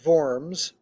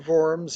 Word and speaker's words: Worms: to the city of forms the w is pronounced like a v um to summons him to forms in 1522 excuse me